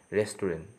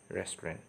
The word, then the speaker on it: restaurant: with a long pronunciation is restaurant okay but wrongly pronounced the word s rest ruin okay but the official pronunciation is restaurant okay so let's move